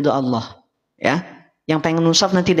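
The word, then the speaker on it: الله: mimman katama syahadatanahu minallah perhatikan lafaz Allah ini secara kaidah ataupun secara hukum akan dibaca tebal Kenapa dibaca tebal karena sebelumnya ada huruf yang berharakat fathah sepakat setuju lafaz Allah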